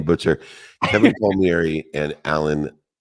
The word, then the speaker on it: Kevin Palmieri: two incredible partners in crime, Next Level University, Kevin Palmieri, Alan Lazaros. Is that how I pronounce it, Alan?